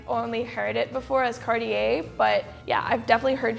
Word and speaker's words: Cartier: In Italy, I think we say Cartier with a strong R in the end. Cartier. So in France, we say Cartier. Ooh. Cartier? Sounds Cartier. Fancy. We do not really pronounce the last R.